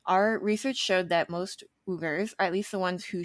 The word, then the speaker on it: Uyghur: ugers which is our research showed that most ubers at least the ones who showed up in our search results prefer the pronunciation that we will be using in the